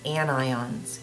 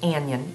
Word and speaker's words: anion: charged ions are called anions it's not pronounced an Yin it's an ion cation and anion and